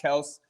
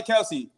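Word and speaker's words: Kelce: kind of ridiculous but yeah so it's now pronounced travis kels so i hear anybody out saying i'll call him travis kells please if you hear anybody say kelsey mahomes correct him yes my homestead that's how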